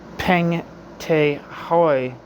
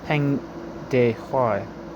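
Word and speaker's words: Peng Dehuai: This explains the official condemnation of Peng Te Hoi, or Hai line. Peng Te Hoi line. Can't never say that fucking right. Peng De Hai. I can't fucking pronounce the name. Huai. Peng De Huai.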